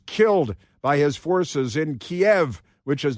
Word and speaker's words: Kiev: of uh protesters killed by his forces in Kiev which is not pronounced Kev.